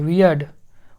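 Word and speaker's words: weird: यहाँ पे साइलेंट है, वियर्ड। उसके बाद डी को अड पढ़ रहे हैं, ठीक, अड, आर यहाँ पे साइलेंट है तो वियर्ड, वियर्ड, इसमें अड होगा, ठीक, तो इस तरह से वियर्ड होगा।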